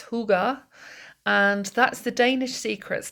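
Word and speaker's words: hygge: the little book of what looks like hi to me but it's Huga and that's the Danish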